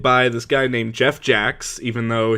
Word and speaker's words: Jacques: Okay, so, webcomic, questionable content, created by this guy named Jeff Jacks, even though his name looks like it should be pronounced Jacques, but, he's not French.